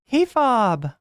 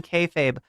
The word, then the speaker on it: kayfabe: K-Fob! Look, there's nothing wrong with mispronouncing kayfabe, but I found out the hard way when I called it K-Fab, and Dylan Burns made fun of me.